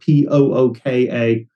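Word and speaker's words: Púca: So Puca in Irish, or I think it's spelled Pooka, possibly in the film or the script.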